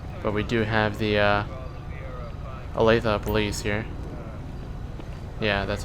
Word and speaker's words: Olathe: But we do have the Olathe Police here.